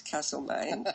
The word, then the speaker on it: Castlemaine: playing in castlemaine now I know how to pronounce Castleman because I've told this story at many of